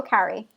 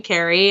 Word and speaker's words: Carrie: do you say it do you say carrie or carrie carrie carrie okay like i carry something i think i say